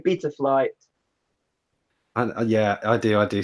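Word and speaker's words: Betaflight: Just beta flight. He's too posh now. So that everyone else says beta, right? So from who on the screen? Who goes first? What I say beta flight.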